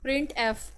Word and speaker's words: printf: The function प्रिंट एफ is pronounced as प्रिंट एफ। हम इसमें प्रिंट और उसके बाद जो एफ़ है उसको हम जो है इस तरह से प्रोनाउंस करते हैं, प्रिंट एफ, E double एफ, यहाँ पे एफ़ के लिए जो है यहाँ पे उसकी साउंड है।